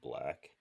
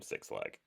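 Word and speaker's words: 6LACK: And Black is spelled 6 LACK. Hmm. So for the longest time people used to call him Six Flag.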